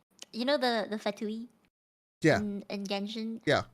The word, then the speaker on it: Fatui: And if it's genuine, like you know the Fatui Yeah. in Genshin? Yeah. I didn't pronounce it that way at first. because I read it as Chinese, so I pronounced it as like Fatay.